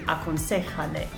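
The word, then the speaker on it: aconséjale: of an affirmative command, we have to put that accent on the third syllable. 1, 2, 3. Aconsejale.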